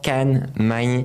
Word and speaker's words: Khan Magne: Aujourd'hui, je reçois Can Mai. Je la prononce à la française, comme je t'avais dit. C'est ça, c'est parfait.